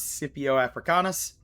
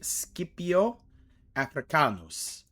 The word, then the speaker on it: Scipio Africanus: And today we have uh in modern English would probably pronounce Cpipio Africanis. However, in the original Latin it would be Scipio Aricanus, Rome's reckoning.